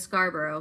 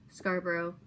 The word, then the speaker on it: Scarborough: And Scarborough, kind of like Edinburgh. Scarborough.